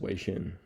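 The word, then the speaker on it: 微信: The Chinese name for WeChat is pronounced Weixin. It consists of two Mandarin syllables, high level tone, sounds like Wei, and Xin, falling tone, sounds like Xin.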